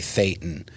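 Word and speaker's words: thetan: corrected him and said, "Oh no, it's actually Thetton."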